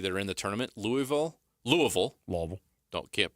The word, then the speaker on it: Louisville: in the ACC that are in the tournament Louisville Louisville Louisville don't can't pronounce that don't call him Louisville it's Louisville